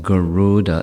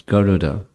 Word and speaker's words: Garuda: Commonly, we say Garuda, which isn't what his name is. There's no elongation of the second vowel. It's not Garuda, it's Garuda.